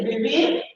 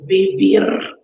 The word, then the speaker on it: vivir: And you don't differentiate the V and the B sound in Spain. But I love the sound of V. Vivir.